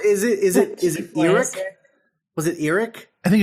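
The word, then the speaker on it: Erak: They don't pronounce it Iraq, do they? Because it's spelled E-R-A-K, but I think they call him just Eric.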